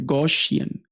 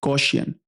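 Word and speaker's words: Gaussian: एक दफा प्रोनाउंस करें ताकि आपको समझ आ जाए। गौशियन गौशियन।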